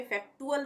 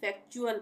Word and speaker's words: factual: अब यहाँ पे फैक्टुअल नहीं पढ़ेंगे, फैक्चुअल पढ़ेंगे, च का उच्चारण होगा यहाँ पे टी के लिए।